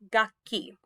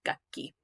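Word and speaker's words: 楽器: depth because it's crucial gaki this is a musical instrument gakki gaki is a spoiled brat it's the one i like to go back to because i tell my students if you don't get it right you're going to be a gaki instead of gukki here's another really great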